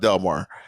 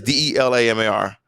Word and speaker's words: Delamar: But then we added an A to the middle, so but it's still pronounced Delmar. It's Delamar.